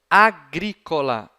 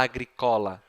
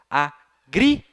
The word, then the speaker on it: agricola: Qual que é a penúltima? Co. Tem bráquia nela, pessoal? Tem, sim, senhor. Então, ela não pode ser. Eu não vou falar agricola. Eu tenho que colocar, então,